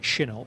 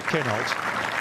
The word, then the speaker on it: Kinhult: I think you're supposed to pronounce it Kinhult, but apparently he said, you know, we say it so badly that he'd rather we stuck to Kinhult.